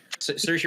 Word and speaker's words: Saoirse: I'm sorry, how do you pronounce Saoirse Ronan's name again? Saoirse Ronan and Jennifer Lawrence too, as the young